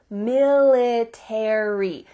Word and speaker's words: military: book about the military in american english you're going to pronounce each of the final letters a r y military in british english